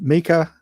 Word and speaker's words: Mika: We have Mika, rhymes with sneaker, joining us from Alpine Light.